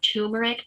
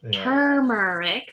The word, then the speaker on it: turmeric: trying to figure out tumeric tumor is something that you get when you have cancer turmeric there's an r you can pronounce it how it's spelled um is what indians